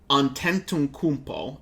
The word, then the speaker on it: Antetokounmpo: I'm going to just show it to you because Antetokounmpo is how it's pronounced, but I'm not about to spell that right. Antetokounmpo.